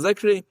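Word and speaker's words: Azikri: You have from the Sefer Haredim, Rabbi Loza Azekri. That's the right way to say it, actually, Azekri.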